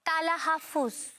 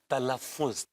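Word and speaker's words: तलफ़्फ़ुज़: मतलब होता है तलफ्फुज अ तलह फुज इट्स नॉट तला हाफ इट्स तलफ्फुज तलफ्फुज सही पकड़े है का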